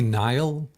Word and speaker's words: Niall: I was nearly Niall. Niall? Yeah. Niles, like like the Fraser's brother. Like you kind of have that vibe. It's spelled Niall, and it's an Irish name.